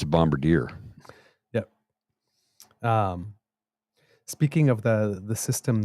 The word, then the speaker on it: Bombardier: It's not a bombardier, it's a bombardier.